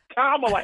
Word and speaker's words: Kamala: I think it rhymes with Pamela. Something like that. Oh, that's right. Oh, yay. Kamala Harris.